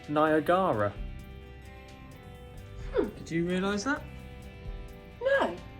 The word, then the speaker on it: Niagara: yeah it's spelled Niagara so is it Niagra or Niagara depends on who you ask yeah it's Niagara he always been Niagara and it always will be niag look at that